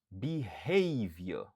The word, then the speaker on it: behavior: Behavior. Behavior. Behavior. Qui signifie comportement. Li genyen 3 syllabes. Stress syllable lan li sou deuxième syllabe lan.